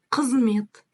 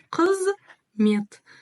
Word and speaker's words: Қызмет: Как прочитать букву К с хвостиком? Очень и очень просто. Попробуйте, произнося букву К, откашляться или отхаркнуться. У вас все получится. Қызмет. Қызмет. Читаем по слогам. Да, как в первом классе. Читаем по слогам. В казахском языке эта тема очень хорошо работает. Қызмет. Қызмет. Просто буква читается кратко и практически не произносится. И говорит о том, что слог твердый.